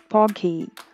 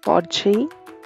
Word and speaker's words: porgy: you apply the masalas people over here call this fish as pogi but i pronounced it as podgy please excuse me guys